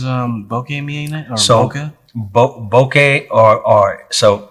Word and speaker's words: bokeh: Bokeh or so it's a Japanese word. It's actually pronounced bokeh.